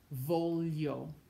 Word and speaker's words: voglio: When you see GLI, you do not pronounce the G. It sounds like li, li, as in million, voglio, degli, migliore, meglio, gli.